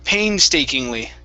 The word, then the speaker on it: painstakingly: big word right here is pronounced painstakingly painstakingly stressed at the beginning painstakingly okay very